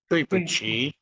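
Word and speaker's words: 对不起: और डी को जो है वो ते से प्रोनाउंस करेंगे, तो इसको दुई नहीं हम कहेंगे तुई। दुई। पूछी। दुई तुई, पुच्छी।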